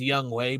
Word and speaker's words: Young Ho: Um his name is His first name is Young Ho. So it's not It's Young Way, but it's spelled Young Ho.